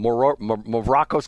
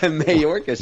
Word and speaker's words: Mayorkas: I get his name wrong. Maracas Candy wasn't his name? Maracas? Mayorkas.